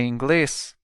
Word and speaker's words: inglês: In Portuguese, do you speak English is Você fala inglês? Você fala inglês? Let's break it down by syllable.